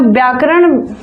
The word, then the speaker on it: वैयाकरण: वैयाकरण कहते हैं उनको, शुद्ध उच्चारण उनका वैयाकरण होता है। व्याकरण लिखा है जरूर, लेकिन वैयाकरण उच्चारण होता है।